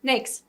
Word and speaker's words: NAICS: Nakes. Like cakes.